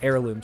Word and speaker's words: heirloom: and we're talking like a herirloom system or heirloom system. Correct pronunciation there.